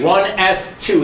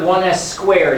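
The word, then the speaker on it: 1s²: there one two so i write one s two that's not one s squared it is a smaller number it's a superscript but it's one s two that's how you say it then i go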